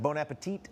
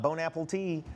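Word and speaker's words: bon appétit: One of my favorites is like bon appetit. You'll see that online when instead of bon appetit, you'll be like, here's some of my bon apple tea.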